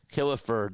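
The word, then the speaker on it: Killefer: reserved clause was uninforcable, he also found that Kilifer had a moral commitment to the Phillies even if a valid contract was not in place. Yes, Kilifer. That's spelled K I L L E F R.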